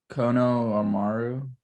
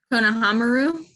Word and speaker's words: Konohamaru: Kono Amaru. Konohamaru.